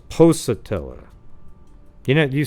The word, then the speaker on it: Pocatello: And then said I guess, so it's Pocatello. You know, you say Pocatello? How do you pronounce that? You guys know? Pork? There's no O-R in there. It's just P-O-C-A-T-E-L-L-O.